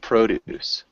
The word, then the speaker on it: produce: it's a pronounced a little bit differently it's pronounced produce produce is change the yeah so produce and